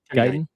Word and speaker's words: Guiton: Is it Guiton or Guiton? Do you know how to say his name? Guiton.